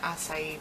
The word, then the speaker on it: acai: because I've never eaten acai bowl. There we go. Now I'll pronounce it right.